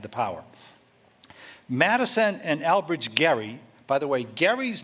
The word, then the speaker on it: Gerry: political term only he only the term softens the g jerry jerry mandering you've heard of gerrymandering well that's from albert garry his he pronounced it gary he became the governor